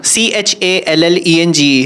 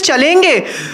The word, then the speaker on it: challenge: C-H-A-L-L-E-N-G-E. How will you pronounce that? Challenge, right? Yeah, you only. Challenge, right? And he used to pronounce it as chalenge.